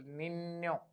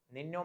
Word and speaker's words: niño: N with tilde is pronounced as NA. NA. Sound come from your nose. NA. For example, niño. Niño means little boy.